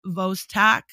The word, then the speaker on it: Vostok: It's Vostok, V-O-S-T-O-K.